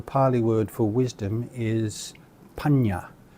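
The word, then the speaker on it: paññā: And this is pronounced as nya, as in hung, So for example, the Pali word for wisdom is panya. P with these nya, a, panya.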